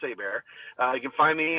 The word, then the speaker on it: Hebert: last name looks like Hebert but it's actually a Louisiana French thing AAR h e b r t so spell it like Kyle Hebert that's how it look but it's pronounced a bear uh you can find